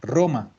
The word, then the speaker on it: Roma: igual que en español si yo tengo una palabra que empieza con r también la pronuncia dura roma aunque muchos muchos y